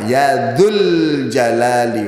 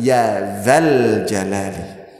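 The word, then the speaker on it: يا ذا الجلال: Kalimat Ya Dzal Jalali wal Ikram ini dibaca dengan tanda dhammah, Ya Dzul Jalali wal Ikram. Salah di dalam pengucapan. Mestinya bukan Ya Dzul Jalal, tapi Ya Dzal Jalali.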